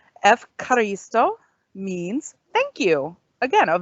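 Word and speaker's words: ευχαριστώ: next on the list, this is Efkaristo. Let's try that again. It's Efkaristo. This one kind of rolls off the tongue a little bit easier. Efkaristo means thank you.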